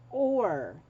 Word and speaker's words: Oaar: Then there is Or. It's spelled Oaar Kantha.